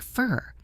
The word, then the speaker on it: for: The word for often sounds like fur.